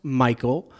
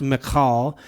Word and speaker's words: Michal: and they'll pronounce it Michael. I've probably even done that before, but it actually is pronounced Michal. Now, if you don't want to do the Hebrew guttural, then you would pronounce it Michal.